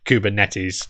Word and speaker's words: Kubernetes: and uh the the the greek people that i've spoken to about this pronounce it kubernetes so uh we should probably listen to the greeks i i think given